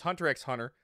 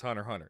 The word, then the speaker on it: Hunter x Hunter: twice Hunter x Hunter it's Hunter x Hunter you if you think it's Hunter Hunter it's not I'm I'm I respect